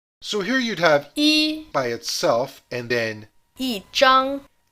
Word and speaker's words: 一: It's pronounced as a first tone when it's by itself, for example in a telephone number or when counting. 一 But whenever it combines with another syllable, it follows the exact same rules as bu. Fourth tone, except when it comes in front of another fourth tone, in which case it switches to second tone.